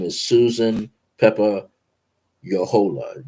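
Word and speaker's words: Jojola: name is Susan Peppa Yola Jo o j o j o l a I gotta learn pronounce my J's and y's in Spanish are different but anyway that's how it's pronounced j o j o l a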